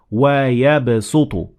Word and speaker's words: وَيَبْسُطُ: So it is better to say وَيَبْسُطُ. So you pronounce the sin instead of the sad.